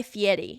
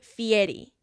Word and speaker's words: Fieri: I have always loved Guy Fieri and all of his stuff.